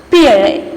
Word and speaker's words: Pierre: How to pronounce it? Pierre.